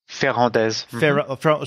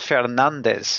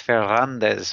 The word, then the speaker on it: Ferrandez: So you do pronounce the Z at the end? Yes. Okay. This is kind of a southern name, so when we get to the south of France, the pronunciation is closer to Spanish. Okay. It's actually probably a Spanish name, okay. Ferrandez or something. Ferrandez, okay, Ferrandez. Yeah. And it's not Fernandez, it's Ferrandez, which Ferrandez.